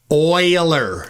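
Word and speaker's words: Euler: force um and a Uler force. Now these are real Yeah. Did you hear him say that? Oiler. Oiler force not uler oiler forces your guys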